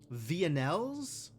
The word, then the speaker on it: villanelle: This can go back up here so somebody can investigate the Villanelles? Alright, I'm Googling that word. I need to know whether or not the L's are actually pronounced. Villanelle.